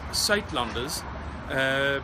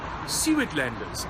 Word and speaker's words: Suidlanders: It's pronounced Suidlanders, but in English you would probably pronounce it something like Suidlanders, and this is how you spell it.